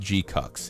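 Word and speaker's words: GQuuuuuuX: It's called Gcucks. It's called G Q U U you UX. And it's pronounced Gcucks.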